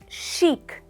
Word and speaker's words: chic: The first word is pronounced as chic and not chic. It's chic.